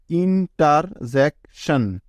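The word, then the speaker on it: interjection: একটা কথা মনে রেখো, সি এর পরে কনসোনেন্ট থাকলে সবসময় ওই সি ক এর মতো সাউন্ড দিয়ে থাকে। তাহলে কি হলো? ইন্টারজেকশন, ইন্টারজেকশন, ইন্টারজেকশন অর্থ হলো বিস্ময়।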